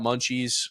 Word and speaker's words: Mnchs: So if you haven't already, check out Munchies. Again, used to be a food truck, now a restaurant. Awesome food, and it's not spelled like how you'd spell Munchies. It's spelled Mnchs.